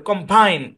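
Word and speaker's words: combine: গিয়ে মানে ওয়ার্ডের কোন জায়গায় গিয়ে চাপ দিয়ে উচ্চারণটা করব তো এই শব্দের মধ্যে এখানে স্ট্রেস আছে কম্বাইন কম্বাইন কম্বাইন বাইন কম্বাইন কম্বাইন কম্বাইন মানে শব্দের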